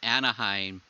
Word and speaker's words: Anaheim: noticed when you said anaheim you said anaheim there's actually only one h in it that's actually a common